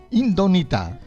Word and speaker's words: Indomita: È molto misterioso sui titoli, come anche questo ultimo titolo, Indomita. Allora, indomita con l'accento sulla O in mezzo.